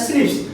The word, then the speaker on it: SNP: और ये SNP single nucleotide polymorphism pronounce as स्निप्स, ये भी पूछा गया है स्निप्स क्या है, तो कुछ भी नहीं, सिंगल न्यूक्लियोटाइड पॉलीमॉर्फिज्म, ये है, ध्यान देंगे।